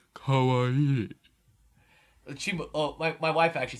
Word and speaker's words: kawaii: You don't say it like you're an And you have to, uppity... you have to have that kind of nasally kawaii.